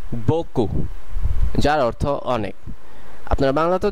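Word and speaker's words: beaucoup: দ্বিতীয় শব্দতে যাওয়ার আগে একটি গুরুত্বপূর্ণ কথা বলে নেওয়া দরকার যে অনেক সময় ফরাসির শেষের বর্ণটি উচ্চারণ করা হয় না, আবার অনেক সময় করা হয়। যেমন এই ক্ষেত্রে এটির উচ্চারণ হবে বকু, বকু যার অর্থ অনেক।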